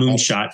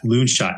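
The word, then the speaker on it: Loonshots: it's great great book not moonshot loonshot I know yeah someone said you misspell that said no no no it's it's Lon as in really crazy really nutty oh it's probably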